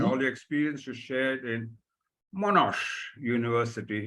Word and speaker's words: Monash: the experiences shared in monash university if i get the pronunciation right yeah that's correct monash university when i said you